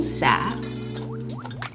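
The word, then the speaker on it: sả: How do you say it? Suon Sung. Nung. Nung. Sa. Sa. Sa. Sa. Say sa. Sa. Sa. Stretch the A.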